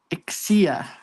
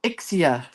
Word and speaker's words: Ixia: Ixia Where do they grow? I have no idea. Accent on the first syllable. Ixia Is that right?